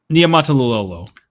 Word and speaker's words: Niumatalolo: And it's not to just keep making about Ken Niumatalolo. I think I finally said it right again. You said it. That was perfect. Niumatalolo.